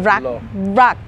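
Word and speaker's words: รัก: Yeah, rak. It's rak. Originally R as in R-A-K, but yeah. because the problem with pronouncing R and L, it's become lakna, rakna, okay.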